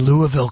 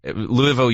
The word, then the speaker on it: Louisville: We were in Indianapolis last weekend and Louisville, Kentucky. No, you don't say it like that. Louisville, you pronounce it like this.